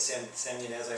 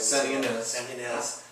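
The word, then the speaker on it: Santa Ynez: San Ynez. San Ynez, which would be Transcendence.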